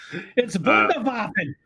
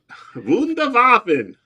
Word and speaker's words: Wunderwaffen: So Mark is correcting my German. It's Wunderwaffen. Wunderwaffen.